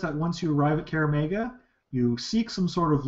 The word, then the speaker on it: Kaer Maga: So yes, she suggests that once you arrive at Kaer Maga, you seek some sort of local aid to